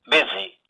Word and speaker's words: busy: Letter U is pronounced as E. So in all, in these words, E is the vowel sound, whereas the letters represented in the word different.